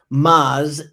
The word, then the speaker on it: Moz: And I've been told that my South is in my mouth a lot, so let me spell it. BRIGHTED. That's GEEDGE. Bright Edge. Moz, MOZ Pro, PRO.